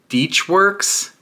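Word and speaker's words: DeatschWerks: I have a Deechworks, is how they pronounce it, their triple pump surge tank.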